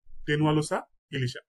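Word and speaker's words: Tenualosa ilisha: ইলিশ, ইলিশের বৈজ্ঞানিক নাম হচ্ছে টেনুয়ালোসা, টেনুয়ালোসা ইলিশা।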